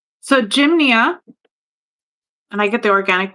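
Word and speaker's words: Gynma: Oh, the other one is Jimnia. So it's spelled like Jim. G Y N M A.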